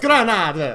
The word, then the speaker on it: Granada: No. Grenade. Wow, okay. Granada. Granada. It's pronounced Granada.